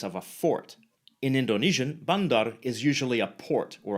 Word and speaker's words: bandar: a fort in Indonesian bandar is usually a port or a water Channel rather than a city notice that the final R is silent in many accents including the mainstream Johor